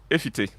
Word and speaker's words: Efiti: It's a Ghana word that in we pronounce it Efiti.